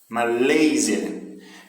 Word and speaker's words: Malaysia: Malaysia. Então nós vemos aí agora uma situação em que a sílaba tônica está no meio da palavra, tá certo? Malaysia, o laser é o que tem mais força.